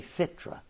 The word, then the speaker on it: fitra: They say fitra. Okay. Did I say it right? Yes, fitra.